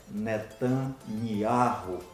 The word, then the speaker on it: Netanyahu: ea gente percebe que a pronúncia não é outra a pronúncia é netanya ru não existe outra pronúncia seja ela em que